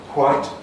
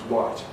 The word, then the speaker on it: white: So differently means it's white, the same means it's white.